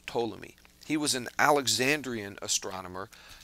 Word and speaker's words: Ptolemy: The P is silent. It's pronounced Tammy.